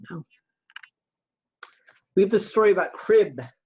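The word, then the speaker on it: Kryb: and and so Ashley meant to be pronounced crib like a baby's crib but it's spelled k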